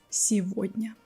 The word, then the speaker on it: сегодня: And like this, we keep our pronunciation of this word as сегодня.